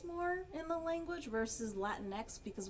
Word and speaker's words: Latinx: in the language versus latinx because when you try to pronounce it in spanish it would be like latineckis or whatever which doesn't make sense